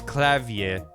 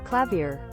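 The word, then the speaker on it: Klavier: within Google clavier so the British pronunciation is clavier clavier clavier American is clavier American pronounces the r at the end more well I'm probably just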